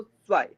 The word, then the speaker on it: zwei: सा का साउंड थोड़ा सा ज्यादा आएगा, तो zwei, zwei। ऐसा लगेगा कि ता साउंड हो ही नहीं रहा है, बट सा का साउंड क्लियर आएगा, तो कोशिश करनी है कि जो हल्का ता का साउंड है वो भी निकले, तो हो जाएगा zwei, zwei, zwei, zwei नहीं zwei, ठीक है ना?